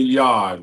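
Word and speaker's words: Yarde: Mexican monster will fight November 22nd against how you pronounce the guy's name better be Anthony Yard.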